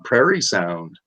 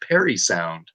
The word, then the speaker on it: Parry Sound: prairie prairie sound but it was actually supposed to be pronounced like a name perry and now it is